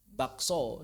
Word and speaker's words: bakso: Dalam bahasa Indonesia banyak juga hurufnya ada tapi tidak dibaca seperti bakso. Berarti silent K. Bakso.